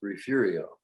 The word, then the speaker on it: Refugio: It's a Spanish word, and the Texans decided that we were going to pronounce it Refugio.